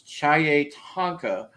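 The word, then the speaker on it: chiye-tanka: says um it was it's spelled c h i y e and then the word tonka so it's chai tonka or translated means big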